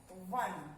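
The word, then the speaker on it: won: And the past form is W-O-N. One. जो हम O-N-E one बोलते हैं, same उसका sound है. They are homophones. O-N-E one, same one. We will pronounce it one.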